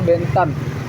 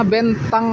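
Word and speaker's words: Bến Thành: Ini namanya Bentang Market ya. Bacanya tulisannya bentan tapi bacanya bentang.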